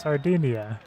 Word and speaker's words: Sardinia: Sardegna. Swear to God, I've heard this in broadcasts before. The actual sport. It's pronounced Sardinia.